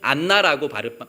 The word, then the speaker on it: 안나: 그 딸의 이름은 안나였습니다. 안나도 그 구약 성경의 이름으로는 한나입니다. 한나. 한나라는 이름이 신약 시대의 헬라식 이름으로 안나라고 발음하게 되었고, 그 이름의 뜻은 은혜라는 뜻입니다.